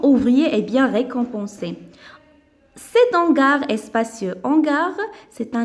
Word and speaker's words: hangar: Cet hangar est spacieux. Hangar, c'est un nom masculin. Donc, on va mettre cet. Commence par H muette.